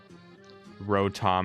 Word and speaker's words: Rotom: Rotom is how you pronounce it.